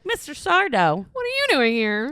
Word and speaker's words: Sardo: I go and I bring the pants in, and he's like, "That's Sardo." No, mister. Accent on the dough. Amazing. And then I'd be like, Mr. Sardo.